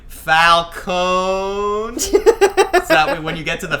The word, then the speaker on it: Falcone: I loved even the storyline about her being the daughter of Falcone. It's Falcone.